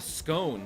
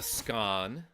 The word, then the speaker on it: scone: don't be an idiot it's called a scone not a scan but also these people